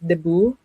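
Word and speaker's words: debut: Deo so it's just it's spelled as for anyone who's not Filipino watching it's the D Vu T but we pronounce it as Debo pertaining to the 18th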